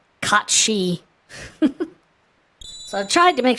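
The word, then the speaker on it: Cait Sith: and apparently you know it's Celtic so it's not pronounced the way it's spelled like at all caught she so I tried to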